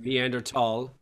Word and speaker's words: Neanderthal: Neanderthal. Yeah. It's the tall.